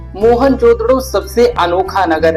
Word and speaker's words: मोहनजोदड़ो: इतिहास के बारे में मोहन जोदड़ो शब्द का सही उच्चारण है मोहन जोदड़ो और सिंधी भाषा में